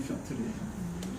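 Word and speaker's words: Пётр: 피터 러시아식 발음이 표트르예요.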